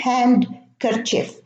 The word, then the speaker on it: handkerchief: Now, in Wednesday, handsome and handkerchief, we have a silent D in the middle. So it's not Wednesday and it's not handsome. It's not handkerchief. It's Wednesday. We pronounce it as a word, one word, not two words. Handsome, the same thing, and handkerchief, the same thing. So there is no D in Wednesday, in handsome, and in handkerchief.